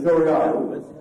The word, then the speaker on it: Doiaru: I'm just thinking this, how do I pronounce his name? Doyaru. It's Doyaru. Doyaru.